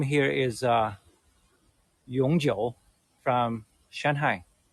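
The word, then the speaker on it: 永久: Uh, the brand name here is Yongjiu from Shanghai. Yongjiu is the pronunciation. It means forever. Back in 1970s and 80s, in the old days of Shanghai people's life, a bicycle in Yongjiu brand was one of the most essential items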